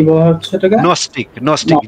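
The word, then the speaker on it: Gnostic: নস্টিক, নস্টিক, জি এর উচ্চারণটা হবে না, নস্টিক বলবেন।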